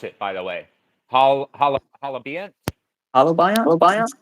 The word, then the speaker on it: holobiont: So do you think that there's how do you pronounce it, by the way? Halabiant? Holobiont? Halabiant.